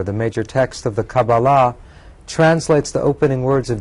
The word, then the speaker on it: Kabbalah: Now we're beginning to throw out a number of terms, and I suppose we better start with Kabbalah, or sometimes pronounced Kaballah, and define for our viewers what that means.